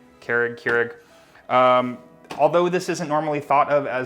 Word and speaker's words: Keurig: Keurig? Keurig.